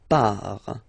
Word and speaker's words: pars: So the first form is je pars. So final S not pronounced, je pars. Tu pars, same form, you can see here and here.